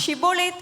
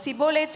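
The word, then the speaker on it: שיבולת: கேட்பார்கள் அவன் அல்ல என்றால் நீ ஷிபோலேத் என்று சொல் என்பார்கள் அப்பொழுது அவன் அப்படி உச்சரிக்க கூடாமல் சிபோலேத் என்பான் அப்பொழுது அவனை பிடித்து யோர்தான்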